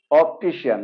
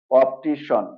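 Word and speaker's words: optician: এখানে আরেকটি ওয়ার্ড দেখা যাচ্ছে এটাকে আমরা নরমালি উচ্চারণ করি অপটিশিয়ান রাইট আসলে এটার কারেক্ট প্রোনাউন্সিয়েশনটা হলো অপটিশন ওকে এখানে সি আই এন এ হয়ে যাবে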